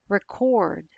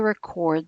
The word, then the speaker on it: record: to differentiate word meaning for example record as in I want to record the song versus record as in I bought the record in Jackman's case he